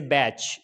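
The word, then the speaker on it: batch: अगर किसी वर्ड के अंदर TCH और TEN आ जाएं तो वहाँ पर टी साइलेंट हो जाता है। उसका एग्जाम्पल हम यहाँ देख लेते हैं। जैसे बैच, बैच के अंदर TCH है, TCH है तो यहाँ पर क्या होगा, टी साइलेंट हो जाएगा।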